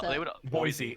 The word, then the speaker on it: Boise: Do you want it to turn into this Boise when it should be pronounced Boise.